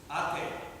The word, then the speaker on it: Ate: Ate. And then the second son is Dico. That's Mario. Dico is spelled D-E-E-K-O-H.